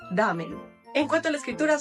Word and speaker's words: ramen: pero justamente es porque esta r de esta letra es como cora son el tip para practicarlo es si les cuesta trabajo no pronunciarlo como doble r al inicio pueden poner una palabra como esta antes de pronunciar ejemplo en vez de decir ramen digan coren corazón jamen y ya después le quitan la Co y ya van a pronunciar como japoneses damen en cuanto a la